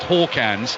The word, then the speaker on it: Hakans: So Hakans, although he spelt Hakans, is pronounced Hawkans, but the one I